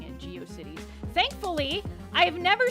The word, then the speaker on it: GeoCities: But I did used to call it Go Shitties in my head, and I thought that's how you pronounce it.